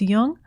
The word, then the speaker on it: Jung: jung on apple podcasts just be sure to pronounce jung with a hard j links to amazon's new